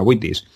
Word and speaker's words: vitis: que en latín pues la ub se pronuncia como bula witis y su número pues